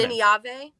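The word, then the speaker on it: Nynaeve: Um, I'm really enjoying Naive's character. Although, what's her name? Catherine, we talked about how do you pronounce her? Nave.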